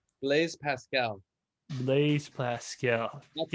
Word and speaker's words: Blaise Pascal: Blaise Pascal.